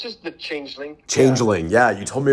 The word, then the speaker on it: Changeling: It's just The Changeling.